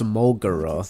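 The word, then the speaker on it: Molgera: Oh, it's Molgura. That's how you pronounce it.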